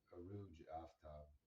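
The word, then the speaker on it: Arooj Aftab: She's Pakistani, and I believe her name is just pronounced Aruj Aftab.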